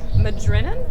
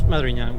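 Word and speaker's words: Madriñan: Of course, Shannon Strucci and David Rodriguez Madrinan. Is that how that's pronounced? It's Madriña, but it's a hard time for the font.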